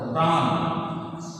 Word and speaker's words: প্রাণ: যেমন প্রাণ একটা শব্দ, বানানে মূর্ধন্য আছে কিন্তু আমাদের উচ্চারণ করতে হবে দন্তন্য মতো, অর্থাৎ হবে কয়েকখানা আকার প্রাণ।